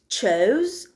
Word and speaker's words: chose: Chose and choose.